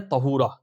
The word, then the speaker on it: طہورا: بھی آپ رکھ سکتے ہیں۔ نمبر 17 ہے طہورا۔ طہورا، طا ہا واو را ہا۔ اب اس کی اسپیلنگ آپ درست اسکرین پہ دیکھ سکتے ہیں۔